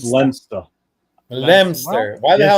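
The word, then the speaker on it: Leominster: Leo Leo Minster.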